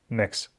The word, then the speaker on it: Mx: Читается – ещё раз, как /məks/.